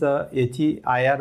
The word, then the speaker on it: heir: And second, the spelling is HEIR, but the pronunciation is the same pronunciation.